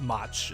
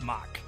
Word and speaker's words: Mach: sounded cool like mock mach is my is not pronounced much it's pronounced mock so that that's i